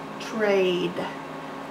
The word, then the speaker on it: trade: a little hand trick trade silent E makes the a say its name ER Aid ER Aid